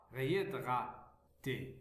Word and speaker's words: réhydraté: Puis nous avons Ré, Yé, la lettre H, on ne la prononce pas. Réhydraté, réhydraté.